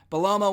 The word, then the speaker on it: Bellomo: Bellomo went over, that's how you pronounce it, with the Boss Man Slam, the big Boss Man's old finisher, the walking sidewalk slam.